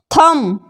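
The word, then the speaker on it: thumb: को समझ ए जाए थंब थंब यहां पर थंब नहीं पढ़ते हैं थंब पड़ते हैं यानी की अंगूठा वैसे ही बी टी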